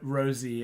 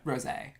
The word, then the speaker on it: rosé: Going to pretend I know what rosy is. It's a pink wine. Yeah. Rosé. Yeah, it's spelled like rose, but there's an accent on the E.